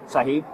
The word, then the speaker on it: Sahib: Sahib. Spell it.